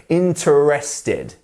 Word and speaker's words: interested: we have interested and pay close attention to our e here which is a tricky little e which maybe quite often people want to pronounce so interested no we would not even pronounce this e and we're just going to say interested interested interested interested and maybe you hear a bit of the E there but it's not interested we're not pronouncing this whole thing here um you see